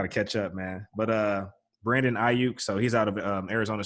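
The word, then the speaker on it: Brandon Aiyuk: Also, Brandon Ayuk. I actually said that right because I looked up the pronunciation.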